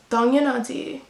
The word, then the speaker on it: 당연하지: Okay, so the Korean phrase for of course is 4 syllables. My pronunciation is probably off, but it's 당연하지. 당연하지.